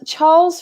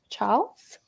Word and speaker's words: Charles: Well, like, yeah, it's like you're missing the R, but yeah, you just kind of like glide over it.